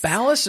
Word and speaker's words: Ballas: Ballas or Bias? Ballas. Ballas? Okay. I mean, that's how they say it on Dancing with the Stars.